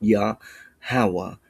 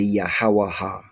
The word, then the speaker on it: Yahawah: Yahawah with a closed syllable marking or a closed word marking. We do not say yahawaha. It's yahawa malak.